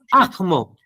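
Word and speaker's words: ahmo: Y ahí aspira. Es como si vieras una J. Ajmo. Ajmo quali.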